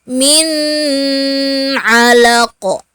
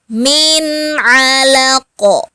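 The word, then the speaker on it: مِنْ عَلَقٍ: Maka kita baca jelas. Min alaq. Jangan kita dengungkan min alaq. Salah, tapi harus jelas, tidak didengungkan. Bacanya langsung. Min alaq.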